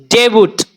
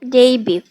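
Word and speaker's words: debut: না বেইসে basically বেইসেলি repeatedly আচ্ছা আমরা বলি ডেবুট ডেবুট ওকে এই শব্দটাকে কিভাবে উচ্চারণ করবো ডেইবিউ কি বলবো ডেইবিউ ডেইবিউ ডেইবিউ মানে কি মামনি অভিষেক বলো কি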